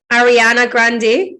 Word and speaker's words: Ariana Grande: So we would say Ariana Grande.